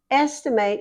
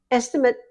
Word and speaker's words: estimate: Estimate is the verb that's used. Estimate, if you say it on the end, it's a noun, but estimate is how you say it if it's a verb.